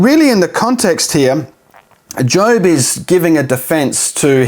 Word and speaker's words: Job: in the Book of Job it's not job it's job that's how you say it now we have to